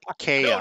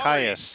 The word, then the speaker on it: Caius: Zero Lancer on Twitch says it is pronounced Chaos. No, he says Caius. Sorry. Caius.